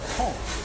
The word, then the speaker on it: conch: All right, the next dish is called conch. Conch. Oh, conch. Conch. Now, it's pronounced that way here in the Caribbean. Right. I think in the States we pronounce it conch.